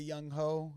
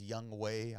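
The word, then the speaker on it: Younghoe: go so dope Mikey yeah we got a young ho even though it's pronounced young way I learned that but young ho in the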